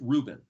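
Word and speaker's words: ראובן: So the word Reuben is spelled Resh Aleph Vav Bet Nun, pronounced Reuben.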